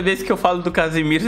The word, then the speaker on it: Casemiro: porque tem diferença né uma é Casemiro e o outro é Casimiro assim você tomar um cuidado na hora de pronunciar você e ouvir também você consegue sentir a diferença uma eu Casemiro eu vou até Casimiro um andando ele chegou muito